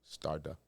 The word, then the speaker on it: Starda: Starda. Okay. Starda like a star.